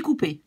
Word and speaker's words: coupé: And, of course, it will become j'ai coupé because the ER becomes E accent, pronounced in the same way, j'ai coupé.